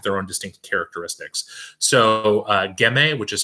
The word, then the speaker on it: Ghemme: So Gemme, which is spelled Ghemme, and Gattinara, Gattinara, are both kind